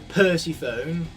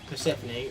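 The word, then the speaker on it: Persephone: nothing greater than uh calling Percy phone by her incorrect name which is pany that's not her name her name is clearly Percy phone who whoever says pany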